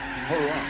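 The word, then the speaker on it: Huayra: It's called the Hurrah. No, it's spelled H-U-A-Y-R-A. Hurrah.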